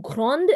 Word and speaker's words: grande: So, grand changes to grande, and you'll hear the D.